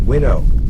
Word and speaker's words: Wino: It is supposed to be pronounced Winnow.